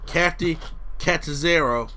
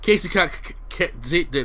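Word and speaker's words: Kacy Catanzaro: But Tegan Nox, Candice LeRae, Vanessa Bourne, the returning Kathy Catanzaro. I always get her name wrong. Casey Catanzaro. There you go.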